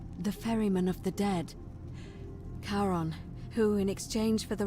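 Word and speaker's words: Charon: it's just as you described it only your pronunciation is a little off the name you heard wasn't karen it was c h r as in caron the ferryman of the dead karon who in exchange for the right coin helps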